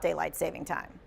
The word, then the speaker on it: daylight saving time: what is true about Daylight Saving Time DST daylight saving time